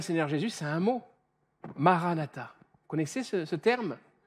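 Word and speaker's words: Marana tha: dire deux choses différentes si tu dis Maran ATA ça veut dire notre Seigneur est venu il est déjà venu et c'est une réalité biblique mais si tu le le prononces d'une autre manière en disant Marana ta c'est cette phrase qui dit viens Seigneur Jésus avec un gros point d'exclamation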